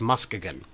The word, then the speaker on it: Muskegon: I'm going to Michigan I'm going to Muskegon and I know you're saying that's not how it's pronounced but apparently according to the city council for their annual Meetup in June each year it is at how it's pronounced it's official it's still spelled the same but it's Muskegon and there will be